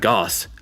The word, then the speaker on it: Goss: here uh Brad go your last name rhymes with boss oh Brad Goss oh cuz you were